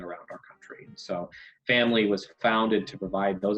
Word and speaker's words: Phamaly: Before TNP, I worked at a company called Family Theater Company, which is spelled PHAMALY.